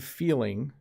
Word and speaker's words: feeling: Filling and feeling are pronounced slightly differently, okay? Oh, that meal was very filling. Now I'm feeling sick. Did you hear the difference there?